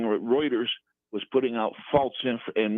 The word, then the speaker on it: Reuters: she had on an individual that worked for rutlers Rutgers right um writers writers as that's pronounced I think yes Reuters there you go exactly and he was saying